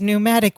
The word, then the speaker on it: pneumatic: wanting to google it it's pneumatic with a p it's a silent p listener okay so that's